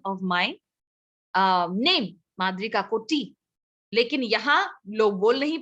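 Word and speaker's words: Madri Kakoti: तो that's the exact pronunciation of my name माद्री काकोटी। लेकिन यहाँ लोग बोल नहीं पाते हैं, काकोती कर देते हैं या काकोटी कर देते हैं, ठीक है।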